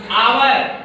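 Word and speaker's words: hour: देखिए एच है, एच क्या है यहाँ? साइलेंट है। क्या है? साइलेंट है। इसको हावर नहीं पढ़ते हैं, क्या पढ़ते हैं? आवर। एच का उच्चारण देखिए, एच ओ यू आर, इसको पढ़ेंगे क्या? आवर।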